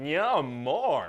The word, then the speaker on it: Namor: oh it's freaking Neymar Namor Namor namore how do you pronounce that you know everybody in the movie is going to say it differently I guess there's no wrong way to say it no I'm going to pronounce it yeah more okay no maybe there